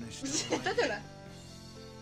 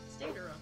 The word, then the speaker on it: Deidara: Said it wrong. Dedera. Dedera. That's how they say it in the anime.